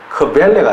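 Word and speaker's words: Quelle: 의미니까 앞에다 붙였는데 Q-U-E-L-L-E 크벨레가 나오거든요. 독일에서 이제 발음의 그 어떤 하나의 예외적인 형태가 하나 있는데 QU가 이제 예외예요. QU는 크보로 발음됩니다. 외래어가 아니면서도 크보로 발음돼요.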